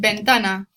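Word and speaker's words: ventana: because it sounds like I said Ben Donna right remember Spanish in Spanish V's and B's are pronounced exactly the same and hopefully from your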